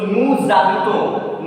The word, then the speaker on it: nous habitons: So already I told, whenever S will have liaison, S will pronounce Z. And when you are making liaison, that sound should come here. So nu zabito. That final silent consonant will become the first letter of the following word when you are pronouncing.